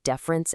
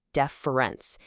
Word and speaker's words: deference: Deference, with that E sound at the beginning, deference, is about respect. Difference, with that I sound, difference, means things are not the same.